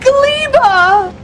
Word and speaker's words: Gleba: planet we're on and that word is in fact pronounced glea as Jennifer Anderson will now demonstrate said gleba so I'm going to stick with pronouncing it gleba I was pronouncing it I was trying to alter at one point during the streams between pronouncing it gber and pronouncing it gabber but I've have had